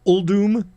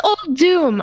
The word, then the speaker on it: Uldum: Hearthstone, the Saviors of Uldum, or how are we pronouncing that? It's Uldum, and I thought it was Uldum my whole life. I thought it was Uldum too. So did I, but it's not.